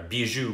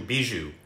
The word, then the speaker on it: bijou: So the plural of bijou is pronounced the same way as singular, bijou, bijou.